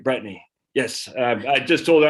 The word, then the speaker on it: Bretigne: brittany shaffer out of los angeles and brittany brittany right brittany yes i just told her i'm from maine we don't pronounce things in maine right it took me